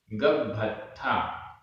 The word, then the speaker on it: गब्भत्था: अंडेसु, अंडेसु, पवड्ढन्ता, पवड्ढन्ता, आधा ड, ढ और बिंदी, पवड्ढन्ता, पवड्ढन्ता, गब्भत्था, गब्भत्था, आधा ब भ, आधा त थ, गब्भत्था, मानुषा, मानुषा, य,